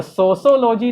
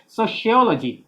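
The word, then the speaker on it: sociology: तो सोशोलॉजी नहीं होगा, इसका प्रोनाउंसिएशन होता है सोशियोलॉजी। सोशियोलॉजी क्या होता है, सोशियोलॉजी, सोशोलॉजी क्या मतलब प्रोनाउंसिएशन होता है हम लोगों का, तो सोशोलॉजी ना बोल के क्या बोलेंगे, सोशियोलॉजी।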